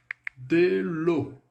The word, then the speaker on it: de l'eau: Então, na palavrinha água, o E aí, ele é irrisório. Ele não tem som, ele é mudo. O que vai determinar o som da palavra água em francês é o AU. Então, AU, som de O. Esse é o som, é assim que a gente pronuncia água em francês.